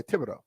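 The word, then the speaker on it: Thibodeaux: pronunciation of this thing Tibido so tib not thib yeah tibbido the H is silent okay Tibido um fifth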